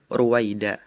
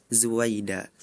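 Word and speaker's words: رويدا: Seharusnya Ananda Farel membacanya amhilhum ruwaida. Tapi tadi Ananda Farel membacakannya huruf ro dengan huruf za. Jadi berbunyi amhilhum zuwaida.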